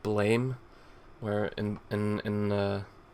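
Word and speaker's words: Blame!: of manga maybe like blame where in in uh or blam i believe it's pronounced i can blam none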